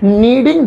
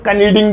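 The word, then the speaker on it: kneading: आटा गूंदने को अंग्रेजी में कहते हैं नीडिंग the dough. नीडिंग the dough. वो नीडिंग में शुरू में के लिखा है, लेकिन वो साइलेंट है, कभी तुम कनीडिंग द डो बोल लो, कनेडा ही बोल देना, अच्छा तो नीडिंग द डो।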